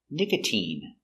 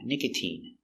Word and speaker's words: nicotine: But you have words like nicotine, where the sound is E, a long E sound, nicotine.